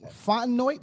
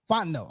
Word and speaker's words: Fontenot: going on um also uh we have terry fontenoy is that how you pronounce that hired as uh no fontenot okay hired as atlanta falcons first black general